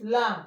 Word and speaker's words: lamb: And this one is lamb, short sound. And b is not pronounced, the silent.